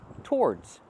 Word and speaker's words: towards: Pronunciation, make that oo sound, towards. You don't have to say towards, you can make it one syllable, towards.